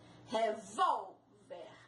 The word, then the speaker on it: revólver: Revólver. Ao acento no vol. Tórax.